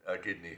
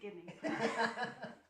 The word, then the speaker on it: Gibney: sometimes and Mr Right is it me or Mr gidney who's mispronouncing your name your honor is Mr Gibney I uh I apologize